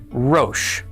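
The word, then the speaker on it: ראש: Resh is pronounced r. Cholam is o. Aleph is silent, and the sheen, again, has the dot over the right side, so it is pronounced sh. Altogether, this is pronounced rosh.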